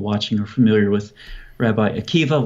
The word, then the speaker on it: Akiva: I'm sure most people watching are familiar with Rabbi Akiva, once again spelled with a B-A at the end, but pronounced with a V.